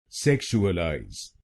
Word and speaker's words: sexualize: इसकी सही प्रोन्सिएशन है सेक्सुअलाइज। सेक्सुअलाइज। इस शब्द में चार शब्दांश हैं। सेक शुक्लाज तो बनेगा सेक्सुअलाइज। सेक्सुअलाइज और इसमें आपको पहले शब्दांश पर जोर डालना है।